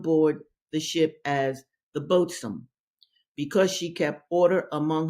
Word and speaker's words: boatswain: It's really the boatswain, but it's pronounced boatswain.